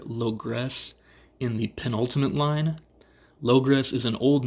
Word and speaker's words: Logres: As far as I can tell, it is pronounced logress, and if this is correct, I hear some kind of echo of the locusts from stanza 1.